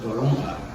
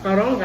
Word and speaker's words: toronja: Y la otra es toronja. Yeah? Toronja. Toronga. I never heard that. Toronga. Toronja. How do you spell it?